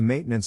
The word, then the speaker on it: maintenance: accent or stress is in this case the accent is in the first syllable corresponding to Main low are other ways